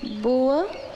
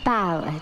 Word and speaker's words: bower: Some of the words, like this word, boa. I know what bow means. It's pronounced bower, dear.